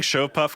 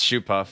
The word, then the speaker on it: Shoopuf: over again you keep saying show puff because there is a delivery service near philly you were in philly called a go puff yeah i think they pronounce it that way too we're getting we're getting money no it's it's shoe puff in both versions uh oh walk is